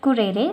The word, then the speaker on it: currere: In Latin it is pronunciated as currere which means to run or race course.